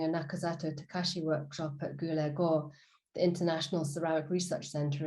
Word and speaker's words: Guldagergaard: i met during a nakazato takashi workshop at gulego the international ceramic research center in denmark yes pronounced that right she said she would come